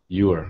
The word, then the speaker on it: Ewer: do i pronounce it it's you uh you are okay yeah you are